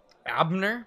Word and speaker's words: Abner: written on the others his last name is Abner Abner that's how you pronounce that Abner Abner Abner Abner it's